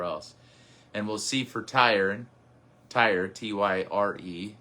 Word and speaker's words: Tyre: And we'll see for Tyre, T-Y-R-E. Some pronounce it Tyree. We won't tonight.